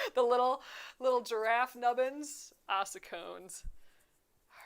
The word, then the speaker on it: ossicones: Ossicones? Do we think that C is like a K sound or a S sound?